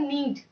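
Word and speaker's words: knead: तो when does Divya, गूंथना को English में कहते हैं नीड, यहाँ यन साइलेंट है।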